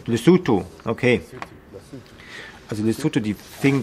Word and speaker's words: Lesotho: Habe ich das richtig ausgesprochen? Wahrscheinlich nicht. Lesotho. Lesotho, okay.